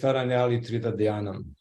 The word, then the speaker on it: Taraṇyali Tridhā Dhyānam: The pronunciation is Taraṇyali Tridhā Dhyānam.